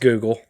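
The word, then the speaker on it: googol: one with 100 zeros pronounced Google okay well it does not look like Google but I can see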